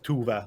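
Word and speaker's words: Tove: you pronounce it, like it's Tuve, but you actually write it with O's, for example. Like the name is written differently because it's in Swedish.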